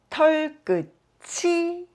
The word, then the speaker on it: 털끝이: Quand on ajoute « 이 » après, cela se prononce .